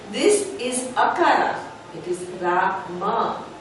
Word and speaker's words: Rama: And people think that they have to correct our pronunciation because we don't say Ram, we say Rama.